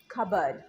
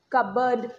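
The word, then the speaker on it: cupboard: কাবড এরমভাবে উচ্চারণ করব সাইলেন্ট পিটা এই শব্দে উচ্চারণ করা যাবে না। ইট is silence so right প্রনান্সিয়েশন of this word is খাবার। খাবার কাবারড না।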